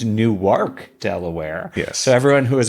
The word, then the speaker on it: Newark: Henry to school and corrected that it's not Newark it's new YK Delaware so everyone who is about to write